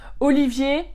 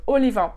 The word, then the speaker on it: Olivier: Donc, par exemple, Olivier, ça va pas trop parce que Olivier en allemand, on va dire Oliver. Donc déjà, si tu t'appelles Olivier, ben, les Allemands vont avoir du mal ou ils vont dire Oliver.